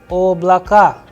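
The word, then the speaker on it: облака: the udarini or the stress sign and the pronunciation of these words the first one is oblaka oblaka then luna luna volga so here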